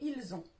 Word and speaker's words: ils ont: Attention à ne pas confondre ils sont et ils ont. L'un, on va le prononcer avec un S, le deuxième avec un Z. C'est différent et on peut mal vous comprendre.